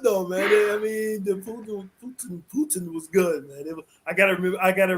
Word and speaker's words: poutine: It's called Putin. Putin. Okay, like President. But I will say this though, a lot of individuals call it poontang, and I'm like, are you sure you're eating fries, gravy, and cheese?